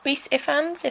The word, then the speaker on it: Rhys Ifans: star and yeah it's just really funny refat Rhys Ifans that's how you say it please spike which